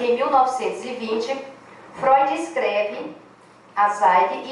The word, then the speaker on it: Zweig: Como chave do caráter misterioso de Dostoiévski, é Zweig que pronuncia, alguém sabe alemão, hein? Sim. Zweig, né? Escreve Z-W-E-I-G.